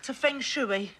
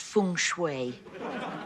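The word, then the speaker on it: feng shui: the beginners book - fing schooi it's pronounced Fung Shui mumbo jumbo well Satan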